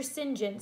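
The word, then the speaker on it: St John: Sinjin so it looks like st. John but in England they produce it they pronounce its engine just so you know Sinjin came but once he looked at me and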